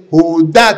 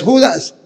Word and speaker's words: Judá: ahí no dice Judas y dice Judá tiene acento en la y no es Judas Judas es con ese y sin acento y ahí no tiene ese y tiene acento en la a ese es judaty no Judas me dijo usted es